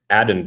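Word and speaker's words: Aden: and then now you have Adden Dirty. Now that I found out that his first name rhymes with Madden, first time defensive coordinator.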